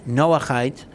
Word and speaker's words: Noahide: also very very different and if you google noah hyde laws which most times is spelled as no like noah n-o-a-h-i-d-e noah height you will actually see a lot of websites